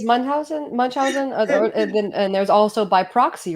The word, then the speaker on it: Munchausen: Oh yes, that's I believe that that is a German name, so that's why I pronounce it as Munchausen.